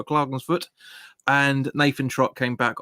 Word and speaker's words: Klagenfurt: I think you pronounce it Klagenfurt.